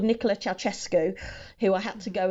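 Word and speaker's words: Ceaușescu: this dictator called Nicola chesu who I had to go and find a YouTube video of how to pronounce his name because it does not look like chesco um so he had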